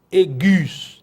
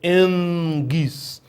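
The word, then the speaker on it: ἐγγύς: Eu não vou ler egis, eu vou ler engis, porque a gramática diz que um gama seguido de outro, ou um gama seguido, um kappa, ou xi, ou ki, ele vai nasalar.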